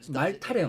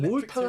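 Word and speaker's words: Malta: 그러니까 몰타도 왜 저거 미국 가서 산 애들이 말타래요, 말타. 근데 유럽 가서 몰타 현지인한테 들어보면 몰타가 맞대. 몰타. 그러니까 몰타가 맞는 거지.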